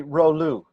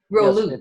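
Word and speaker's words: rouleaux: It's high energy, Rolou. Rolou. Yes, So is that spelled like French, Rolou?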